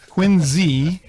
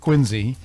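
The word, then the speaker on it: Quincy: pronounce it correct tonight quiny if you're from the Southshore of Massachusetts or from the city of quiny that's how you pronounce it with a z sound just so you know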